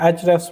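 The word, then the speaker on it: Ahrefs: tool HF tool है एच आरएफ एस के उसकी स्पेलिंग है लेकिन वो एच रफस प्रोनाउंस होता है उसके बाद जो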